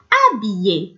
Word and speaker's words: habillé: Habillé. Quand on prononce habillé, on voit qu'on prononce pas le H.